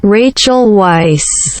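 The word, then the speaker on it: Rachel Weisz: had to look up rachel white's pronunciation which sounds like this rachel weiss thank you wow that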